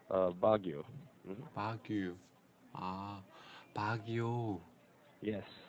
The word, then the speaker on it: Baguio: We're called Baguio. Hmm. Baguio? Ah, Baguio. Yes. Hmm. So Uh, can I pronounce yeah, Baguio? that's right, Baguio.